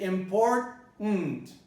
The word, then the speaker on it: important: Now we can go a step further and discover that when you say important, it's even easier if you say important. And then you eliminate the schwa altogether.